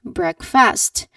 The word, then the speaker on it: breakfast: We are used to saying that. So people say it as breakfast. So that is a common mistake.